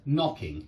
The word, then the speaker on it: knocking: And so this knocking is knocking, yeah, you don't pronounce the K.